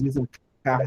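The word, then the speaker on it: יששכר: que é em português, Isacar, né, foi escrita em hebraico com duas letras sin iguais. O fato é que não se pronuncia essa outra aqui.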